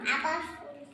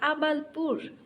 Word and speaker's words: আবালপুর: বলো তোমার গ্রামের নাম আবালফুল আবাল ফুল না বলো আবালপুর আবাল ফুল মাত্র কিছু